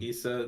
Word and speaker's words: Issa: Uh, Issa is with two S's. Um, Issa the second S is silent.